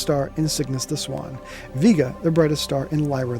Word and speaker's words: Vega: Stars right here deneb Vega and Altair you can say Vega if you want but I believe it is officially pronounced Vega so each of these